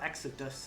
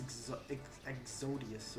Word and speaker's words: Exodius: It's not Exodus, it's Exodius or Exodius.